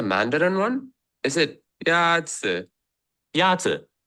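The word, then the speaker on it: 鸭子: Yazi is pronounced with a first tone. In Mandarin, there are 4 tones, which are essential to distinguish the meaning of words. The first tone is a high-level tone.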